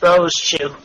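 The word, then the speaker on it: Rosechu: No, it's two syllables. Rose Chew. You don't say the E. It's just Rose Chew.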